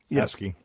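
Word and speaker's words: ASCII: you know for the is that how it's pronounce ASI asky yeah yeah I I've only ever seen it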